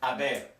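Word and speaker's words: haber: to conjugate the verb ab ab in the yo form is conjugated like a remember the H is silent we're only really reading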